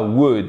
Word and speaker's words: would: Et on ne prononce pas le L.